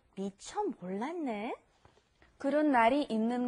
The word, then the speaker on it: 몰랐네: And then with the 몰랐네, another one you got to be careful of the pronunciation on. It's not 몰랐어요. 몰랐어요, when that 시읒, that double 시읒, 쌍시읒 comes before an N, it becomes 몰랐네. That turns into an N sound.